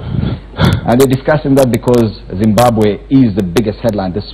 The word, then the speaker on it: Zimbabwe: troubles pronouncing the name Zimbabwe, because I know, yeah, with the M and B together, quite a number of Kenyans cannot pronounce that.